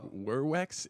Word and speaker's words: Vervex: they said that, like I only say vervex, but I think I say it incorrectly because I think V's were pronounced as W's, and like werwex is what I've been told.